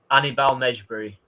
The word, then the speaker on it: Hannibal Mejbri: Annibal Mejbri.